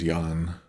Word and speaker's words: Yan: As we can see, this guy's name is Yan.